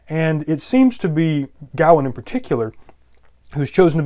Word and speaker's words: Gawain: the greatest knight, and Sir Gawain, or frequently in America pronounced Gawain, but I'm going to try to stay closer to the Welsh, at least the modern Welsh pronunciation of Gawain.